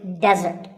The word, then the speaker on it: desert: should not be confused with desert here the stress is on the first syllable which is de desert now i said